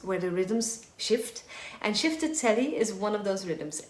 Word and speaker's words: Chiftitelli: So, Shifted Telly Rhythm it's written in different ways. I write it with E-E, C-H-I-F-T-I-T-E-L-L-I. But it's written in different ways phonetically. It can be with an E or I.